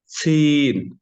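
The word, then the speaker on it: ث: সা জিহ্বার আগা সামনের উপরে 2 দাঁতের আগার সঙ্গে লাগিয়ে হালকা বাতাস বের করে উচ্চারণ হবে।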